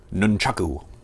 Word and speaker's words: Nunchaku: Nunchaku. That's the proper pronunciation for these. But for the duration of this video, I'm going to be calling these nunchucks.